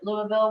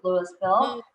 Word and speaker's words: Louisville: and even though some people would pronounce it louisville we pronounce it louisville colorado and so boulder county broomfield county um